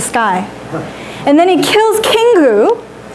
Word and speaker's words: Kingu: Kingu.